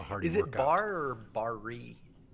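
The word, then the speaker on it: Barre: place yeah it's it's it's spelled b-a-r-r-e yeah but it's it's like uh you know secretary or like uh attorney general barr could go bear but it's bar it's a bar class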